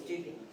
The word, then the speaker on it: Dupuy: Lieutenant dup and we we knew it wasn't dupe so it was dupy D okay Dy is the Eastern Shore because